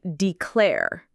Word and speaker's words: declare: And the pronunciation, as we mentioned, has the stress on the second syllable, declare. It sounds like declare.